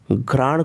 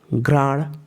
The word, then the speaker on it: घ्राण: ठीक है प्रिय साथियों, इसके उच्चारण में ध्यान देने वाली बात यह है कि जैसे ही हम प का उच्चारण करें, तुरंत र के उच्चारण के लिए तैयार रहना चाहिए। प्राण, ये नहीं कि पहले प का उच्चारण कर लें फिर आराम से र का उच्चारण करेंगे, तब प्राण को प्राण पढ़ा जाएगा, तब घ्राण को घराण हो जाएगा।